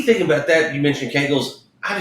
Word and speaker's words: Kegels: But I know it's not pronounced Coggles. It's pronounced Kegels.